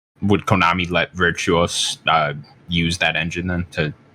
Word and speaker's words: Virtuos: Am I pronouncing it right? Virtuos, yeah. Virtuos, yeah.